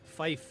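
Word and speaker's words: Fife: He made I was going to ask you how to pronounce his first name. Fif.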